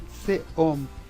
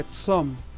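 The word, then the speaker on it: צום: então, kishironi, jejuar, latsum, vejam que o Holem, ele também serviu, essa pontuação de cima, ela serviu para o Vav, para indicar que Vav também está flexionado para O, e serviu também para indicar que o próprio Vav também continua com o som de O, então não preciso ler Tseom, é Tsom, e aqui Latsum, e aqui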